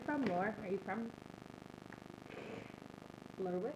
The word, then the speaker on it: Lerwick: Are you from Lerwick? Lerwick? Well, I keep thinking to myself, it sounds like the wizard's name, Kelric. I'm like, but it's not Kelric. It rhymes with Kelric.